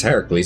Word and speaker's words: Heracles: I do not remember Heracles or for people who don't know Hercules because Heracles is actually how you say it is helping those